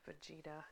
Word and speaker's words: Fujita: I actually had to go on Google to find out how you pronounce that, and I'm pretty sure I'm saying it correctly now. Enhanced Fujita.